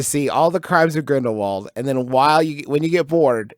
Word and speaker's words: Grindelwald: to pay for it we're just we're just Grindelwald over here oh I said it right no